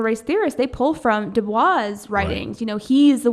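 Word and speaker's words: Du Bois: Booker T Washington w eb Dubois I think it's how you say his name he was a competitor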